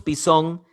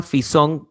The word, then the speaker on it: Pisón: No hay problema, lo que pasa es que la letra Fi o la letra Pi en hebreo se escriben exactamente igual. La letra Fi y Pi se escriben exactamente igual en griego, en hebreo, perdón. Entonces puede pronunciarse Pisón o Fisón, no hay problema.